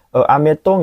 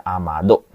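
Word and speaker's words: 雨戸: Ameto nggak ada, amato juga tidak ada, amedo juga nggak ada ya minasang. Yang ada amado.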